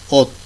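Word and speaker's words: 옷: এখন আমরা এর আগে দেখেছি যে শিউত হলো ভাচ্ছিম হিসেবে ব্যবহৃত হলে এটার উচ্চারণ হবে তয়ের মতন, যার কারণে ওস না হয়ে এটা উচ্চারণ হবে ওত, ওত, যেটা অর্থ হচ্ছে কাপড়।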